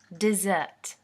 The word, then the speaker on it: dessert: This is a noun, and it's pronounced as dessert.